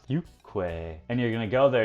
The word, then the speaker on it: 육회: is called you quit spelled you Kwai pronounced you Kwai and you're gonna go